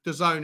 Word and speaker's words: DAZN: on dazn i think the zone the zone is what cody said is how you say it um anybody else i